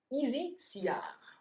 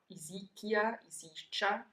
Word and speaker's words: Isicia: Isicia, Isicia, depending on how you pronounce Latin, were the meatballs of Roman times.